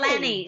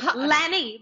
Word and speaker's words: Lani: We have to say Lani. Lani rhymes with Annie.